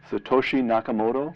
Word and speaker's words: Satoshi Nakamoto: In 2008, this anonymous person who calls himself, I'm not sure I can pronounce this, Brian, so correct me, Satoshi Nakamoto?